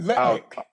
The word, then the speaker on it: Lutnick: Did I pronounce that correctly? Yeah, Oh, Lutnick.